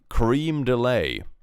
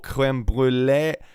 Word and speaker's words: crème brûlée: Cream delay. What? Cream delay. Sweet pudding dessert. Oh, crème brûlée. I mean, I can understand if you don't nail the pronunciation, but calling it cream delay is insane.